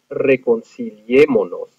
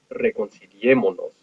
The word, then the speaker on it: reconciliémonos: So we end up with reconciliémonos. Okay, reconciliémonos. Notice the nos, the pronoun on the end, and notice our accent over the e, three syllables back.